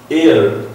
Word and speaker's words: heir: air, इसको hair नहीं पढ़ेंगे हम, HEIR, air सक्सेसर, उत्तराधिकारी जो होता है, इसकी प्रोनाउंसिएशन एयर है, एयर एयर.